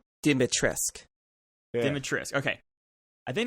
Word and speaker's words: Dimitrescu: It's pronounced Dimitrescu.